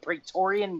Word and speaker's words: Praetorian: the new Royal Guard right how do you pronounce it the Praetorian Guard yes exactly just like in room so